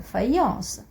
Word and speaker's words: faïence: le crémant le crémant donc ici le tréma ans l'utilisent pour pour indiquer qu'il faut lire qu'il faut prononcer la lettre e i séparément aussi la la voyez qui la pressait écoutez je vais prend on sait la lettre y envoyait séparément et aussi la voyelle qui a un séparément maïs maïs faïence faïence on va détailler tout